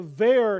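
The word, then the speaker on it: verre: other is v r r e both are pronounced there the ver he was referring to the v a iir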